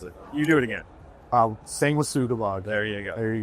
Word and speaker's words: Sanguisugabogg: I'm not even going to try to pronounce it. You do it again. Sanguisugabogg.